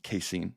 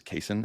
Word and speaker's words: casein: you agree yeah yeah I actually thought it was pronounced casein up until like a year and a half ago I realized it was casein and I've been saying it wrong yeah now the difference